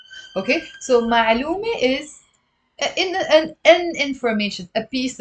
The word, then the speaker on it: معلومة: The next word for today is معلومة.